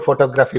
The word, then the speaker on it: photography: Whenever it is photograph, then the stress is on the first syllable. When it is photography, then the stress is on the second syllable.